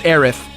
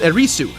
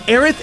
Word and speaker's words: Aerith: but that's only because that's how the Japanese pronounce the name with the TH spelling. That way, they avoid people saying her name as Erisu, which is definitely not it.